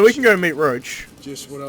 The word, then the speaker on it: Roche: I'm gonna go meet roach or oh Sh it's pronounced roach it's very norwich that's how it's always been pronounced but it's a we